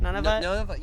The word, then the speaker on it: Nunavut: Somebody came from Nunavut, or is that how you say it? Nunavut?